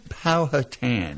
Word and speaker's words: Powhatan: How do you pronounce Powhatan or that? Town? Powhatan.